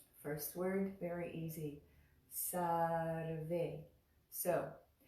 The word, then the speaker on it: Sarve: First word, very easy, Sarve. So I'll remind you that when we make the ra sound, sar, sarve, it's a little like a rolled R in Spanish.